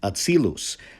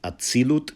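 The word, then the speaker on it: אצילות: You'll hear him say atzilus. That's a Loshen Kodesh pronunciation of a word that is pronounced atzilut in modern Israeli Hebrew.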